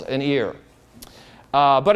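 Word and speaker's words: עיר: for City the original the language is ear like your your ear only that's uh that's how you pronounce it but that's the word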